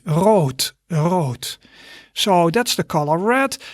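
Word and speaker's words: rood: is road road so although you see a d there it's pronounced as a t wrote so that's the color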